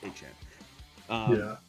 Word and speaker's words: Etienne: He told us Etienne sounds better. The correct pronunciation of his name is actually pronounced Etienne.